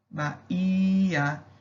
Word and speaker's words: Bahia: Quando eu canto a palavra Bahia, eu vejo que a sílaba tônica da palavra é o HI, Bahia.